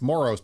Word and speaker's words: Moros: It's Moros, but I say Moros because it rhymes with moron, because only morons own them still.